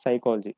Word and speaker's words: psychology: certain words like psychology we pronounce it as psychology but writing the written form is like this there is a spelling different like it will start with p right so psychology the spoken